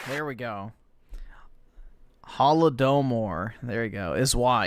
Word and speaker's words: Holodomor: pronounce that wrong. All right, awesome. Thanks, nigga. All right. There we go. Holodomor.